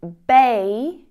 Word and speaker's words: beige: It's not very common in English, but you do hear it in words like measure and vision. Zh, zh. So this word is beige.